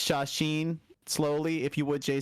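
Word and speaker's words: 写真: So how do you pronounce shashin slowly, if you would, Jay Sensei? Shashin.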